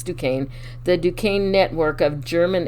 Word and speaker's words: Duquesne: just the year before operation pastorius the duquesne pronounced duquesne it's spelled d-u-q-u-e-s-n-e i had to look it up but it's duquesne the duquesne network of german espionage agents were